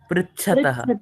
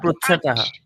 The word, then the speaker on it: पृच्छतः: पुष्छ पुष्यतः Prichhataha or Prichatah. pruchhataha. पृच्छतः it's prue Yeah, plural true or true, whichever you can, whichever is pronounced in your region.